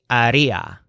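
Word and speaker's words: haría: she would do is Aria in case you haven't figured it out yet RIA is always the stressed syllable for the wood version of any verb and of course hacer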